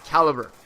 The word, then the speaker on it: Calibre: my gamer tag and how you pronounce it is Calibre. A lot of people like to say Calibre, Lui Calibre. It is Calibre. Calibre. Like if it was spelled C-A-L-I-B-E-R. Calibre.